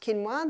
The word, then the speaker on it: quinoa: become familiar with it's spelled quoa but it's pronounced quinoa the Aztec love their quinoa Aussies are starting to get familiar with it